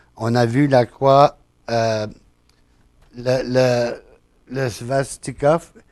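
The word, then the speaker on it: svastika: croix le le le svastiov faut je l'éccrive pour être capable de le prononcer s V a S t I K a c'est en sanscrit alors c'est une langue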